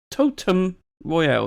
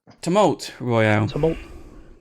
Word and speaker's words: Tumult Royale: spoken about this game totem Royal that's not how you say it come on molt tumult Royale so this is actually